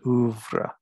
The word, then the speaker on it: oeuvre: And the way you pronounce that is oeuvre.